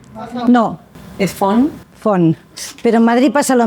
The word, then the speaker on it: Font: Como es un apellido catalán, cuando quieren pronunciarlo bien, pronuncian la T. Que se agradece mucho, pero no se pronuncia. Font.